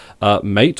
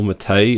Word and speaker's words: MATE: for Linux Mint are mate or matei as it's supposedly pronounced and cinnamon two layouts